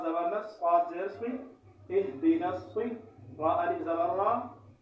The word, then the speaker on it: اهدنا: گے، اهدنا الصراط المستقیم۔ اب ان میں بعض حضرات اس ہا کو، یہ موٹی چشمے والی ہا ہے، اس کو جو ہے جو باریک ہا ہوتی ہے، ہا کو جو ہے ہا سے تبدیل کر دیتے ہیں اهدنا الصراط المستقیم۔ یہ بھی لحن جلی ہے، ایک حرف کو دوسرے حرف سے تبدیل کرنا یہ غلطی حرام ہے۔